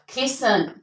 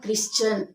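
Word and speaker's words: christen: इट इज not fast N इट इज फसन क्रिसन नॉट क्रिश्चन क्रिसन मयसन मयसन okay the are done now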